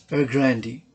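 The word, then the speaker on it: Evergrande: start this reading session evergrandy group or the evergrandy real estate group previously henga group pronounced er grandi is the second largest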